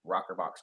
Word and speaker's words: ROKRBOX: That's where our name rokrbox comes from. I know it's spelled kind of strange, ROKRBOX, but an old